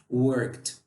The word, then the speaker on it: worked: Então, se você percebe que você, ou um amigo ou amiga, está falando worked, está errado. Por quê? Porque o E eu não vou pronunciar. Faz de conta que ao falar, o E não está aqui. Apenas o D. Então, você fala worked.